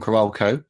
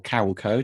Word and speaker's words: Carolco: Well, we've got Mario Casar involved, who produced Terminator 2, Rambo films, Cliffhanger from Carolco, or Carolco, depending on how you like to pronounce it.